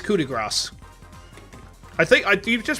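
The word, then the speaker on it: coup de grâce: Yeah, it's coup de grace. I think, do you just pronounce it like coup de grace? Or would you actually pronounce grass? And you pronounce grass.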